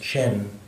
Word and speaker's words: Chen: Actually, it's C-H-E, but because the next word in Tibetan has a certain vowel at the beginning, it's pronounced Chen, almost like C-H-A-N or C-H-E-N.